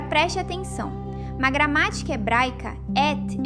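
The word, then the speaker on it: את: Pronuncia-se et.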